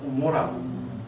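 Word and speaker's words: עמורה: 음력을 하시면 되지만 소돔과 고모라 하시죠. 고모라. 우리는 고모라라고 그랬죠. 고모라인데 히브리어로는 아인입니다. 오모라입니다. 오모라. 오모라가 이제 헬라로 번역되면서 감마로 번역이 되기 시작해서 고모라 그 정도로 기억 기억이 굉장히 안에서 발음이 되잖아요.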